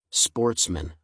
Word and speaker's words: sportsmen: good family, who were sportsmen, a French word pronounced with the accent on the men.